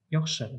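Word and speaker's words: яхшы: Йохше – big йохше. Big йохше. Если даже написано йохше, мы произносим йохше, как буква с к.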